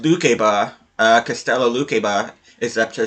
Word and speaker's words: Lukeba: And I did find out it's actually supposed to be pronounced Lukeba.